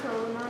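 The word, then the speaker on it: करुणा: The word karuna means compassion and it's not long. As you can see, there's a short U in it, not a long one.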